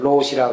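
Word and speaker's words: 老師: 일본 발음으로 로시라 그러는데 1000개를 맞추면 로시가 될 텐데 자기는 아직 500개 뵙기는 못해서 로시 자격은 못 따고 그냥 참선을 지도할 수 있는 자격만 받았다고.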